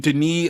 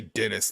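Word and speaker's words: Denis: uh what's his name Deni uh venue you have to say it like a Frenchy way because you know you can't say like the regular American we can't just say Dennis like a normal person but right this guy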